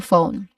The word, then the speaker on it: phone: When we say phone, we actually make only three distinct sounds.